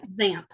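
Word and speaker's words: Xanth: more about this series how do you pronounce that zamp zamp yeah zamp x a n t h corre those of you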